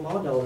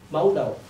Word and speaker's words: modal: The first component is a multiple model logic, including Deontic logic at the central. Multiple Modal. Modal, Multiple not model, okay.